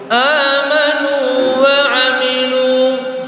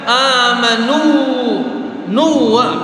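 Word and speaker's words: آمنوا وعملوا: Nah, jadi cara baca amanunya biasa sebagaimana tulisan itu. Jangan sampai kita baca amanu nuwa karena dia bertasdid kan, tapi tidak, ada pengecualiannya. Amanu wa amilu. Amanu wa amilu. Jelaskan u-nya. Amanu wa amilu.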